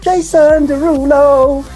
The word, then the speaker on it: Jason Derulo: Jason Derulo.